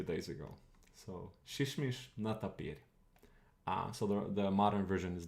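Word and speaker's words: нетопырь: Modern Russian actually uses a ye here, even though it doesn't pronounce it like a ye.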